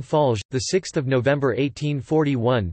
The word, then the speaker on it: Fallières: Clement Armand Fallières, French pronunciation, M. Falge, the 6th of November 1841 to the 22nd